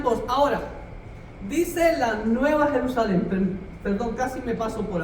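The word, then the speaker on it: ירושלים: El nombre Jerusalén, ¿sabía usted que en el idioma hebreo, ahí está escrito, Jerusalén, se pronuncia así, Jerusalén?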